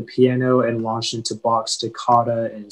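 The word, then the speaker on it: toccata: information yeah so uh the pronunciation is takata it's a noun and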